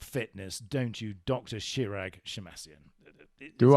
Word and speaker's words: Shemmassian: Shirag Shemmassian? Do I? Have I pronounced it correctly? Shemmassian, that's right.